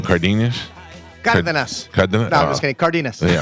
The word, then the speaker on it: Cardenas: how do you say your last name cardinus cardas card just kid cardinus what uh what